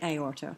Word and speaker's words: aorta: You do have words like aorta, but if you look at aorta, what you have is the A followed by the O, but two distinct syllables, A or ta.